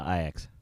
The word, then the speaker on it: Ajax: good coochie uh za i'm almost certain you don't pronounce that that soccer team ajax yeah no i x i x then also i